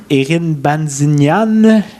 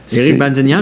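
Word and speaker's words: Erik Bazinyan: Là, je vais avoir besoin de l'aide d'Olivier pour la prononciation, là, mais Erin Banzignan... Éric Banzignan, oui.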